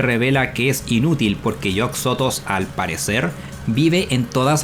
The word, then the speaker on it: Yog-Sothoth: También en todas las traducciones que he visto lo llaman Yog-Sothoth, no Yog-Sothoth. Al parecer es una mala pronunciación, pero su nombre es Yog-Sothoth, porque se inspira en Yog-Sothoth, una entidad Lovecraftiana.